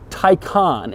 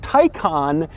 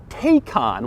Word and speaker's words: Taycan: how you say it Tyco on and not take on which is odd because it looks like it would be pronounced take on but Porsche assures me that it isn't it's also strange because